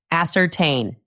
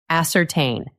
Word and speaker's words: ascertain: The stress is on the last part. Ascertain. Repeat after me. Ascertain. Ascertain.